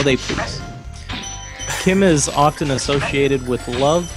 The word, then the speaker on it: CHIM: Wiki hit me says Chim or pronounced Kim sure is a state